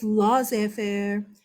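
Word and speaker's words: laissez-faire: And I asked him, hey, how do you say this word? You know what he told me? Laissez faire. So whatever, okay, if you hear it laissez faire in America, okay.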